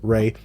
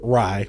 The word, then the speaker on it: Rai: And then we got Josuke, Rei, and Yasuo, or Rai, since, you know, I've learned that it's supposed to be Rai, like rye bread. That's how you're supposed to pronounce his name.